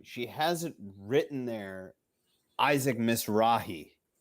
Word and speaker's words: Mizrahi: hasn't written there Isaac Mizrahi like she seriously miss rut as she is mispronouncing the name she wrote on there yes she can't pronounce